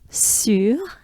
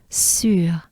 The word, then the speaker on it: sur: All right, sur, we have the infamous funny U sound, right? So U is basically pronounced by making a droopy mouth. Your lips, your mouth, and your jaws drop down. And you close your mouth almost all the way, but not quite.